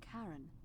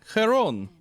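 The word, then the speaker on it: Charon: It's just as you described it, only your pronunciation is a little off. The name you heard wasn't Karen. It was C H. Oh, Karon.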